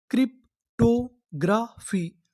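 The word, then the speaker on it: cryptography: अगर आपको आखिरी में पी एच वाई लिखा मिले तो हम लोग पढ़ते हैं फी। क्या पढ़ते हैं? फी। तो हमारी पूरी मीनिंग क्या बनी? क्रिप्टोग्राफी।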